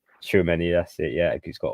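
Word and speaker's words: Tchouaméni: Again, the pronunciation for this player is Schuameni. Schuameni, that's it, yeah.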